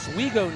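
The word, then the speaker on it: Owego: Another writer in the storm in the chat letting me know that it's pronounced Oiggo, New York, hometown of Tanner Coleman.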